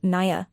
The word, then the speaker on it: niam: In fact, Lia was probably saying Nyam, pronounced Naya, which means mother.